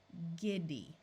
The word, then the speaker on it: giddy: Here's another G word where although it's followed by an I, it still uses the hard G sound. Remember that a Y at the end of a long word usually has the long E sound of E. G, id, E, giddy.